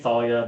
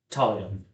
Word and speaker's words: Thalia: t h a l it's pronounced Talia okay excuse me Talia uh uh so she's